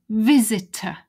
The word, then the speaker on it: visitor: this this is here where's the word visitor visitor stress on the viz cross out and notice that it's just a schwa weak sound it's not a visitor